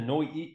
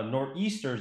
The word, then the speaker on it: Nor'easters: returning guest from newington the noi uh nor'easters i should say i almost said it wrong but i corrected myself josiah ross who's a